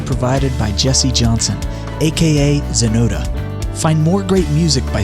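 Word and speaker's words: Xenota: Intro music graciously provided by Jesse Johnson, aka Zenota. Find more great music by searching Jesse Johnson or Zenota, spelled with an X, on YouTube and most major streaming platforms.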